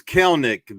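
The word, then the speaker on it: Kelenic: It's Kelnick. The second E is kind of silent, and I've tried to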